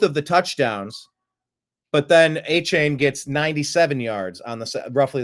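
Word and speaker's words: Achane: How do you pronounce his name? A-Chain? A-Chain? A-Chain. A-Chain, I think.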